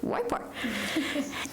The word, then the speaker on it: YPAR: Her research is informed by the Youth Participatory Action Research, YPAR, do you pronounce it all the way through? Wipar.